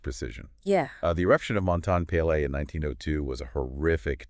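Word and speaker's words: Montagne Pelée: Montaigne-Pelé. Montaigne-Pelé, yeah. Yeah, the source material makes a point of the correct pronunciation.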